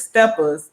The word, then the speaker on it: Steppas: yeah, it's seeing SEEING, and then it's steppers, but it's steppers. It's Right. STEPPAS.